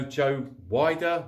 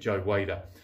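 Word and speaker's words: Joe Weider: press now most of you will probably know Joe wider wer depending on if you're in the UK or America or anywhere else it's pronounced in different ways but I'm pretty sure and I pronounce it Joe waiter now he was a massive massive person Mogul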